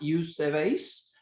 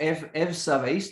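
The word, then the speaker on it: εὐσεβής: En griego es eusebes o evsabes, dependiendo de tu pronunciación.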